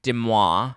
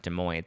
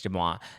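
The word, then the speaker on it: Deuxmoi: They did not hook up together, but apparently there were two other, according to Demois, I think that's how you say it. It's not Des Moines. I think it's Demois.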